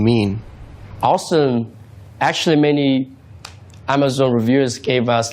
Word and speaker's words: Ausdom: Ausdom means like awesome. That's exactly what we want to build the brand, and that's why we named it. Because it has a similar pronunciation with awesome.